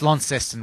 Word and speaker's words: Launceston: That's Launceston. We always Launceston. I'm glad to know that. Actually, we overpronounce our words, so Launceston.